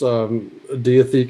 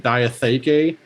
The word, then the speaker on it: Diatheke: I think the correct way to do it is like Diatheke, but I wanted three syllables, so it's art. Screw it, I'm pronouncing it differently. So it's Diatheke.